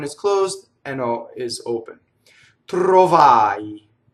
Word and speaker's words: trovai: Trovai. It's the same thing as ttardai, right? It's a-i. Notice the rolled R in trovai. And notice the closed O because the accent is on the A vowel. The O is in the unaccented position.